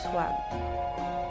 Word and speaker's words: Sim: Mon nom est Sim, prononcé Swam.